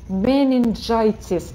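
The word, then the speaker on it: meningitis: Смотрите, менингитис, и все повторите за Ирой. Менингитис. Почему менингитис? Да потому что G встретилась с буквой I. Когда G встречается с E, I, Y, она читается G.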